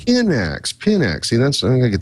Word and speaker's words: Pinax: we came to talk about which is uh pineax peanuts and first off how do you pronounce it uh for the last 19 weeks so pinx is the pronunciation index pinx see that's I'm gonna get this straight eventually